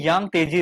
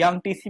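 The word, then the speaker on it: Yangtze: रखनी है, वो है यांग तेजी रिवर। यांग तेजी रिवर की बात करते हैं, यानी यांग टीसी भी बोलते हैं, यांग तेजी भी बोलते हैं, प्रोनाउंसिएशन में थोड़ा अलग अलग हो सकता है।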